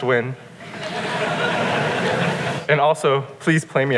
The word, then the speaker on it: Nguyen: It's pronounced win.